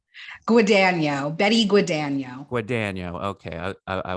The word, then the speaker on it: Guadagno: do how do you say your last name guano Betty guano guano okay I I I just